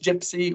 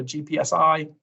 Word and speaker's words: GPSI: Term might be a bit old now, but it's pronounced GIPSI or GPSI.